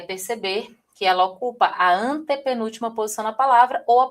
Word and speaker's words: antepenúltima: Então você vai ver aqui, ó, a palavra antepenúltima é uma palavra proparoxítona, porque a sílaba tônica está na posição três, certinho? O mesmo acontece com sílaba, tá vendo, ó? Uma posição, duas posições, a terceira posição é mais forte.